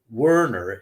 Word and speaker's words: Werner: And the way that it was done by Colella, Overhauser, and Werner, or Werner is how we pronounce that German name in the United States, C-O-W, cow, used a neutron interferometer.